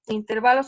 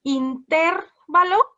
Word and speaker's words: intervalo: esdrújulas llevan acento entonces si se se pronunciara intervalo debería llevar su acento y no lo lleva si lo buscamos en el diccionario donde lleva no es intervalo es intervalo las agudas se acentúan